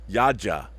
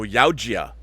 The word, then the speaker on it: Yautja: Yaja. That's how they pronounce it.